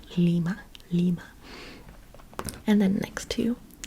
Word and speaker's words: Lima: capital of Peru mhm Lima very good very good and it's kind of like lima bean but not pronounced lima bean lima lima and then next to